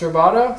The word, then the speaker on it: rubato: That's rubato. That's spelled R-U-B-A-T-O.